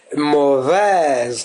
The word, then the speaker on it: mauvaise: Et donc au féminin, on dit c'est une femme mauvaise, mauvaise.